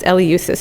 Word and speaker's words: Eleusis: from athens to eleusis it's pronounced eleusis if you google it